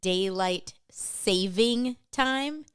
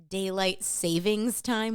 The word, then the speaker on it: daylight saving time: But I want to first start with, did you know that the proper way to say it is daylight saving time, not daylight savings time, which sounds more accurate?